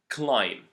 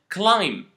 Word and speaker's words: climb: lamb and climb again you can notice that there is a letter that I didn't pronounce in these words and that letter is the letter B so the second rule that we want to focus on today is whenever you have words that end in m and b don't pronounce the b only pronounce the M climb not climb uh